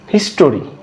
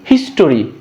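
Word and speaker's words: history: হিস্টোরি, আমরা বলি কি? হিস্টোরি, নট হিস্টোরি, হিস্ট্রি।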